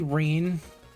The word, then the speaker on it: Rene: My name's Rene rhymes with clean.